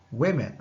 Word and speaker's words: women: Woman, women. Okay, so we change just the E, but the pronunciation of O is going to be E. Women.